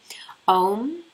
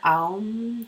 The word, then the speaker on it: Om: So I'll just pronounce them for you. Om is the first one. Aum, Om.